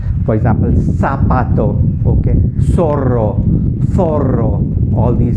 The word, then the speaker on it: zapato: Z in basically in Spain, Z has a very soft sound. For example, the word zapato. Zapato means a shoe, or zapatos. They pronounce it very, very softly. In other Latin American countries and in USA, it's pronounced like an S.